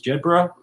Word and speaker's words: Jedburgh: of code names so the proper pronunciation is jedra but sometimes we Americans U put our own spin on things that's that's perfectly understood